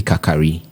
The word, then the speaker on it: Kakari: armar and then Kofi kakari this name the name is spelled as Kari Kar but they ask us to mention it as kakari well so Kofi kakari